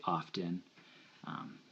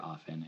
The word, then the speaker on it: often: the T and often, I've picked up that it's always a silent T, and it sometimes bugs me that people say often. I can usually let it slip, but I prefer often, and any guy who